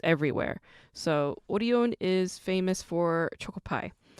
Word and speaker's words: Orion: might pronounce it as orion but orion is how it's pronounced in korean and orion is specifically